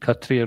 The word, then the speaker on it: Kshatriya: Sometimes I think in Bengali they don't pronounce the S so much, is it? Shika. Same thing. Like Kshatriya or Katriya. Prabhupada pronounced it Katriya, right? The S was silent. So here it's silent, they just haven't included it.